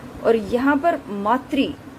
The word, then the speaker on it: मातृ: शुद्ध शब्द ये होते हैं मातृ, लेकिन इनका उच्चारण किस प्रकार से कर देते हैं? मात्र, जो कि गलत है।